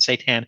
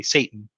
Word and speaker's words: seitan: that you pronounce it seitan it's very it's very easy to mispronounce that and say satan but it's not satan it's satan uh the